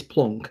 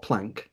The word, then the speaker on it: Planck: by the way is plonk not planck it's plonk you know i know people criticize me sometimes pronouns that's how germans pronounce it and i'd prefer to